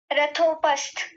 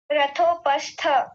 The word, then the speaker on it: रथोपस्थ: संविघ्न मानस ठीक है एक बार इस शब्द को बोलिए रथोपस्थ पस्थ नहीं पस्थ यही गलती की थी आपने थकार को पूरा रखिए रथोपस्थ हां जी बहुत बढ़िया